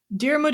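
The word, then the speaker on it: Diarmuid: I looked up how to pronounce this. So, Darmud and Gro were like these uh lovers and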